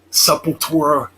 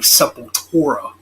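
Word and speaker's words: Sepultura: of of you know supple torah as it's pronounced in brazil i guess but yeah so yeah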